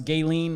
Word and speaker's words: Ghislaine: ever well everyone knows gayen Maxwell you said it right this time Jay I actually spelled it wrong to say it right you know like the gay not g y l yeah but uh they're